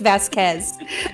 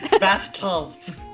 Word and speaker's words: Vasquez: no no F FZ it's Q is pronounced like a k it's Vasquez Vasquez yep she's a genius